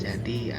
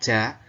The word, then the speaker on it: ja: Jerman di kelas 10 jadi Agar kalian bisa lebih paham lagi karena kita